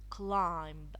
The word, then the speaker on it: climb: end of the world you should not pronounce the B Shh some vocabulary to